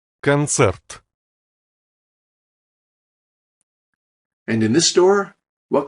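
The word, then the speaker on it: концерт: an ad for concept in English we emphasize the first syllable concert but in Russian it's cancer and in this door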